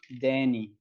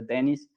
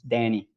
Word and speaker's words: Denis: his name is pronounced denny like danny but danny don't pronounce the last as uh so it's not denise it's not the dennis it's danny so after that uh